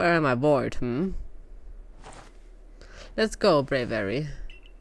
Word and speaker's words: Braviary: I bored, Let's go, Braviary. Braviary. I know it's you know, the mix between brave and aviary. But it's still kind of weird to pronounce.